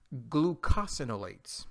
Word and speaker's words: glucosinolates: guys say hello to the glucose i'm sorry glucosinolates okay that's how you pronounce that word benefit number two improves digestion